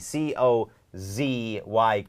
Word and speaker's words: cozy: คำ ว่า cozy cozy c o z y c c ใช่ เพิ่ม เสียง กล้อง ที่ ลำ คอ เป็น cozy I feel so cozy